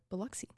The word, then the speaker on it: Biloxi: you pronounce it again bxy buxy b i l x i okay buxy and I did listen